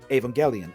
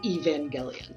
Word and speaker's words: Evangelion: Well, I mean the one that Matt Greenfield taught me, which at the time was Aangelion when I was initially talking about the show with the Japanese. Aangelion. Aangelion. Aangelion because that's how they said it.